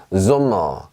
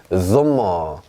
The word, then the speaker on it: Sommer: S라고 말을 하지만 실제로 발음은 S가 아니라 지읒 발음이 납니다. 보세요. Sommer 이렇게 합니다. Sommer. 자, 소가 아니라 zo예요. zo.